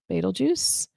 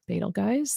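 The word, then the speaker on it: Betelgeuse: So, that's Betal Juice or Betal Guys.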